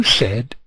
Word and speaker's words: said: did but said Joe said Joe said it is it true it's written said but spoken said when you speak you